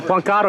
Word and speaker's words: Juan Caro: Juan Caro. What's your name? Juan. Juan. Juan Caro, you gotta say it like that. Juan Caro.